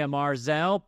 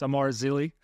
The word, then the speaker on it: Amar Zili: I say Amar Zell, but it's Amar Zili.